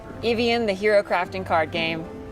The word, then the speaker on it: Ivion: a something that sounds what sounds like evian uh do you have